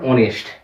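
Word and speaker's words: honest: কিন্তু অপর দিক থেকে যে দুটো শব্দ আমি লিখলাম অনারেবল, আওয়ার, অনেস্ট, এই শব্দগুলোর এইচ এর উচ্চারণটা কিন্তু নীরব থাকে, আর সেই কারণে এখানে কিন্তু আপাতপক্ষে আমরা অ্যান ব্যবহার করব।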